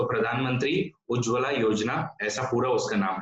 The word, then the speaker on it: उज्ज्वला: Okay, scheme का नाम है उज्जावाला, मतलब उज्ज्वला स्कीम है, लेकिन उसकी स्पेलिंग में डबल जे आता है आपका। ओके, डबल जे है इसलिए उसको हम लोग उज्ज्वला बोलते हैं।